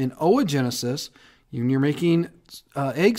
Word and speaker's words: oogenesis: comes to O Genesis to pronounce OA it's not o it's OA oogenesis when you're making uh